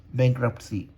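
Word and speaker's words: bankruptcy: T silent होता है, बैंक्रप्सी, ठीक है।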